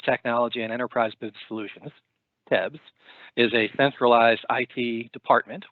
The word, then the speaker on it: TEBS: The acronym is pronounced Tebs.